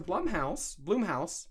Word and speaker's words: Blumhouse: But when he went back to Blumhouse, I think it's pronounced Blumhouse. That sounds more correct.